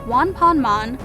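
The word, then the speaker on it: ワンパンマン: name because one punch man in Japanese is pronounced Juan ponmon while the kids show is pronounced on ponmon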